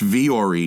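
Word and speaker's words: Vuori: versatile clothing on the planet and it's it's pronounced vre but it's spelled v-u-o-r-i so v-u-o-r-i dot-com slash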